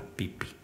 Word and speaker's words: Phi Phi: Y las Phi Phi son las pipi. Digo para que te entiendan, porque a lo mejor dice que apoyar las Phi Phi te mandan a alguna isla de Filipinas, así que las pipi ahí las pronunciamos.